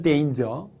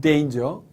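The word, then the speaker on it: danger: 이렇게 말하는 경우도 있습니다 물론 이단 의 정확한 발음은 데인즈 데인저 은 데인저 자 또 어떤 분들은 요설 타 아니라 뭐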